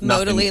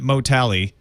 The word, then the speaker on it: Modally: I think, yeah, because I was calling it Motally because it's an analytics firm. Give me Motally. Oh. But then you said, no, it probably rhymes with totally.